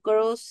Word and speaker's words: crossed: La E que te puse en rojito ahí no suena.